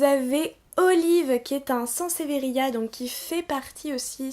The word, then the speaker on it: Sansevieria: Alors évidemment, il y a plusieurs sortes de Sansevieria, là je le prononce correctement.